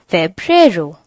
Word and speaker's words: febrero: month of the year is February which is pronounced as febrero after February comes March March is pronounced as